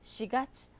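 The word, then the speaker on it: 四月: 4月. 보통 시라는 말은요, 죽을사기 때문에 일본에서도 잘 사용하지 않는데요. 4월은 시가츠라고 읽습니다. 여러분들 주의해서 염두에 두십시오.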